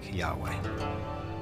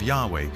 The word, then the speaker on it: Yahweh: and his name was these four letters which in English would be yhw H which we think were probably pronounced something like Yahweh but Yahweh only appears